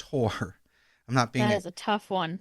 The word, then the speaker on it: Hoare: his girlfriend Shauna Hoare, Hoare, and it is pronounced Hoare.